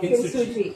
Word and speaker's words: Kintsugi: Kintsugi, is it? Okay, I've been pronouncing it Kintsugi. No, Kintsugi, yeah.